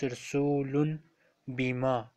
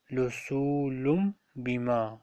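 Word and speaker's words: رسولٌ بما: For example, in the first word you see on normal occasion we pronounce rasulun bima, but here we will say rasulum. Rasulum bima.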